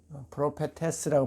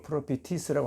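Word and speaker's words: προφήτης: 그 히디아는 그 자기 그 고향 자기 고향에서 자기의 고향에서 프로피티스 선지자가 프로페테스라고 발음할 수도 있고 프로피티스라고 할 수도 있어요.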